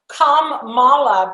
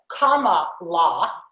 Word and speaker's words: Kamala: it there you go i think kam mala being communist and mala bad is a very good way to pronounce her name even though she says it's comma law hillary have you seen